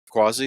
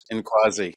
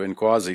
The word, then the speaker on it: Nkwazi: owner and outfitter of Quasi Safaris. Did I say that correctly? The N is silent. Yes. Inquasi the N is not silent. So Inquasi Safaris.